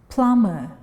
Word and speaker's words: plumber: Plumber, plumber, we don't pronounce b.